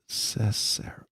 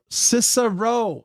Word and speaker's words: Cicero: Cicero. Cicero. Why can I not do this? I need a enunciation. I need a pronunciation key.